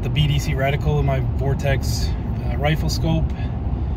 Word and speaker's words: Vortex: But yeah, the Weatherby loves that 180 grain TTSX Barnes Vortex ammo, V-O-R-T-X. I think it's Vortex is how it's pronounced.